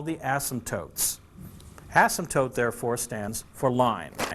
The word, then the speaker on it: asymptote: horizontal asymptote asymptote yes there's a P in there yes it's a silent P asymptote the P doesn't get